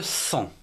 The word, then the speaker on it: sang: présente d'autres mots où on ne prononce pas la lettre g finale comme par exemple le sang s ange1 corps un